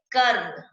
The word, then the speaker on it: कर्म: कर्म। र की ध्वनि कहाँ आ रही है? म से पहले आ रही है। जिस वर्ण पर इसको लगाया जाता है उससे पहले उसका उच्चारण कर दिया जाता है।